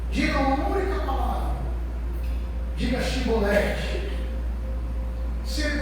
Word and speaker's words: Chibolete: de Chibolete. Se ele pronunciasse certos, ele abraçar seu filho, sua esposa. Mas se o seu soldar o traísse, ele disse seolete, ele ia cair morto.